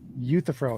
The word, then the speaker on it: Euthyphro: I was just correcting your mispronunciation of Euthyphro. So I said Euthyphro is how you say it.